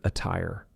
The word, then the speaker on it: attire: a fast D, but attire is an example of a double TT that sounds like a true T.